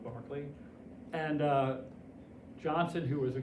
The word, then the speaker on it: Berkeley: Spelled like Berkeley, pronounced like Berkeley.